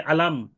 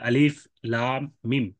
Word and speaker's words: الم: তিনটা অক্ষর মিলে আলাম এরকম উচ্চারণ করার সুযোগ নাই। এই হরফগুলোকে কেটে কেটে উচ্চারণ করতে হয়, আলিফ লাম মিম। এই জন্য আল হরফুল মুকাত্তাআত বলা হয়। কেউ যদি আলাম পড়া শুরু করে দেয়,